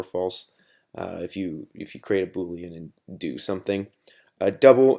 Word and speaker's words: Boolean: Boolean, that's how you say it just stores true or false.